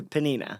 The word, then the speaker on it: Pnina: they had to translate it to Hebrew to panina yeah panina amazing and it became a worldwide